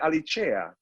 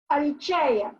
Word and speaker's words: Alicea: Italy, they call it Alicea. Alicea, yeah, because they pronounce the C like a ch. Alicea. And the CE, it's like Versace. Versace.